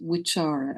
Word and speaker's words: vichara: The word is vichara, and the C is pronounced as a CH because I can't put the Sanskrit markings in it, but sorry, I'm thinking of the letter S. The C is always pronounced as cha.